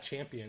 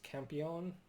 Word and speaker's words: Campion: I grabbed this BBC video Campion. I don't know if that's how you say it. It's not champion, it's Campion. For $3.